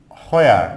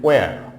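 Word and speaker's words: where: দেন হচ্ছে হোয়ার, এখানে আমরা বলে থাকি হোয়ার নট হোয়ার, it will be ওয়ার, ওয়ার, ওয়ার আর you going, ওয়ার আর you going, কোথায় তুমি যাচ্ছ, তাহলে ওয়ার আর ইউ গোয়িং, তাহলে হোয়ার হবে না, হবে ওয়ার।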